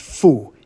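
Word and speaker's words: 阜: Now that it's on the left side, that radical is pronounced fu.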